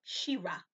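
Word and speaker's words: Sherah: This is a woman by the name of Shira. Shira is S-H-E-R-A-H, and sometimes spelled with two E's, S-H-E-E-R-A-H.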